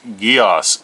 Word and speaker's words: Geass: it live actions encode uh code geass it's pronounced geos ac geass he's not watching this then we